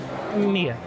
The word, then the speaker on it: Mila: Mia. It's a Mila. The L is silent.